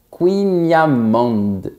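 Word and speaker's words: kouign-amann: "Kouign amann" qui pour les Bretons se dit "kouiniamand".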